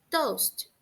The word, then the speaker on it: toast: Nesse caso, a gente também não pronuncia a letra A, toast.